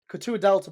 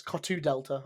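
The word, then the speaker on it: Couteau Delta: I think it helped coutu Delta by the way first time I've ever seen them um oh it's cotu Delta I do apologize I keep saying it wrong um brilliant amazing display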